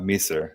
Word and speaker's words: Measor: with us is it miser is that how you say it i usually don't you know i it's i usually pronounce it uh me sir yeah me sir okay